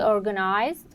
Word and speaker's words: organized: English are schwas um so organized organized uh organized organized main stress on the first syllable no stress on on the second syllable and small stress on the last syllable organized organized um but